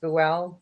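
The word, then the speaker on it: Buell: Paranormal State with Ryan I think it's pronounced buwell well I no longer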